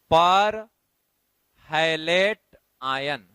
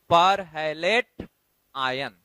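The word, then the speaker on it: perhalate: पर हैलेट आयन, पर हैलेट आयन। मैं स्पेलिंग भी पढ़ देता हूं, PERHALAT, पर हैलेट आयन, राइट।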